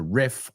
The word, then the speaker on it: riff: So the word is riff. Riff rhymes with, thinking of another word, stiff, rígido. Riff, stiff. Say the two words with me. Riff, stiff.